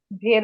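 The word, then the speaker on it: wir: one meant one student বেশিরভাগই সবার ভুল হয় কোনটাই ভির কে তারা উই আর বলে এটা কিন্তু আমাদের খেয়াল রাখতে হবে এটা কিন্তু ডব উচ্চারণ কি ভের মত এটা হবে ভির তারপরে হচ্ছে তোমরা তোমরা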